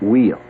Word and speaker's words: Weil: Some people pronounce it Wheel.